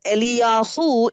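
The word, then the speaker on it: אֵלִיָּהוּ: And the term Elijah that we say is pronounced as Eliyahu in Hebrew. எலியாகு என்கிறதான அந்த பெயருக்கான பொருள் யெகோவா என் தேவன் என்பதாகும். And the meaning of the name Eliyahu means Jehovah is my God.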